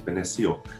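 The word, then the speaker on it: binesi: a cone right so the thunderbird panasi or thunder beans benecio as it's pronounced it talks about the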